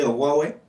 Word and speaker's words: Huawei: Ils l'ont prononcé Huawei.